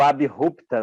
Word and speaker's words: abrupta: Ou abrupta, né? A pronúncia da palavra é essa.